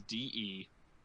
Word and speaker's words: Deleilah: Instead of doing it the AY spelling, we did the German pronunciation EI. So it's DELEILAH.